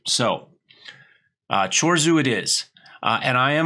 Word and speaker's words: Chorzów: because that's the hardest one for me to pronounce so chores who it is and I am a leading candidate